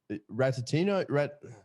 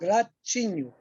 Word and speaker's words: Ratinho: Ratatino, is that right? Ratinho. Ratchino. Ratinho. Like, think about, I'm going to give you a trick. Think about cappuccino, Yep. but it's ratinho.